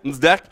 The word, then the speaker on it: NSDAC: Or in short, colloquially called NSDAC. The D is silent. Okay, so you can remember this, NSDAC.